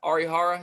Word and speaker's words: Arihara: of dane dunning or uh i don't know arihara is that how you say his name yep